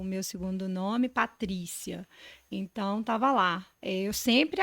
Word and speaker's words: Patrícia: o meu segundo nome Patrícia Então tava lá eu sempre achei eu até porque a sílaba forte é o tri né Eu sempre eu achava